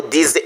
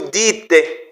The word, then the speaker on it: dites: vous dites ils disent à n'est pas prononcer vous disez non non non c'est vous dites je dis tu dis